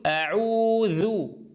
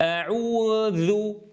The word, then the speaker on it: أعوذ: كما في أعوذ مثلا. أعوذ، أعوذ، أعوذ، انظروا أقول أعوذ. ولا أقول أعوذ، انظروا في الـ في المرة الثانية سمعنا فراغا صوتيا. أعوذ. أعوذ. أعوذ. هذا خلل.